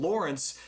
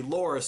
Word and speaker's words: Loras: heard his name i started calling him lawrence but yeah now i know it's actually loris so it only took